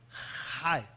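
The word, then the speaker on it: Chai: La palabra CH se pronuncia como Jai, como Jaime.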